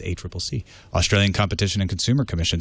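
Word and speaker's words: ACCC: a Triple C and now I know how to say it it's a Triple C Australian competition and consumer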